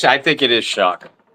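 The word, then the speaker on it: Shough: How I think it's I think it is Shock. I think it's shock. It's It's spelled Shia to me. I can't but they call they say Shuck.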